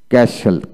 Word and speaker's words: castle: তারপর আসেন ওয়ার্ডের মধ্যে STE বা STL থাকলে এক্ষেত্রে টি এর উচ্চারণ বিশেষ করে হয় না।